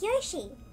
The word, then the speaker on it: Yoshi: go fell off um I've been on geo she like joshie joshie some people say y'all she and show it was one of them but his learning how to pronounce it Yoshi I'm sorry proud you